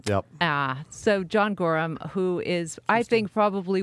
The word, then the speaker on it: Gorham: fantastic that are really late yeah yeah and Gorham is how you pronounce it right yep so John Gorham who is I think probably one of the